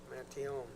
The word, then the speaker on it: Mantione: Mentione? Mantione. The E is silent.